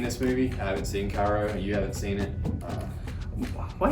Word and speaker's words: Kairo: It's from, I think, Kairo is how you pronounce it.